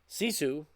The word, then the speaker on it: Sisu: So Sisu, I believe I'm pronouncing that correct.